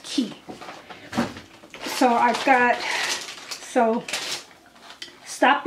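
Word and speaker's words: Quay: key Australia qay but it's pronounced key so I've got so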